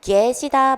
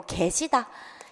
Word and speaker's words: 계시다: 건데 자 여러분 얘 얘는 얘로 발음하는 것이 원칙인데요 자이 경우는 어떻습니까 자 개의 폐해 개의 폐해는 얘로 표기된 대로 발음되는게 원칙이지만 에로 발음하는 것도 허용입니다 자 그러니 계시다 맞아요 그리고 게시다 요렇게 발음하는 것도 맞다라고 보시면 되겠습니다 자 똥강아지